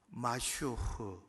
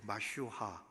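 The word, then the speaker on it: משיח: 마슈흐, 그렇게 마슈하, 그런 발음입니다.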